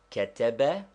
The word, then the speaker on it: كتب: Is there any English word or name which will give us the pronunciation of ketebe? Yes, take the word Canada. There is a slight stress upon the first syllable, but not enough to make it a long vowel. We do not say Canada, still less Canada, simply Canada.